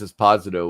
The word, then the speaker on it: Esposito: It's actually pronounced Esposito, which is weird because he's different. Yeah, he's Italian, not Spanish.